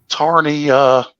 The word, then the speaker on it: Tarnia: Tarnia. Tanya. With a silent R.